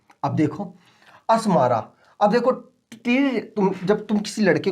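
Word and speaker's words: Djibouti: आगे करते हैं जिबूती। अभी देखो डी साइलेंट है यहां पर, ठीक है, इसलिए मैं डिजिबूटी नहीं पढ़ रहा, मैं जिबूती इसको पढ़ते हैं, लेकिन आप जो पढ़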